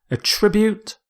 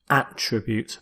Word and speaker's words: attribute: a tribute a tribute it's a verb so with this verb you stress the second syllable it also works as a noun where you stress the first attribute but here as a verb attribute if you attribute something to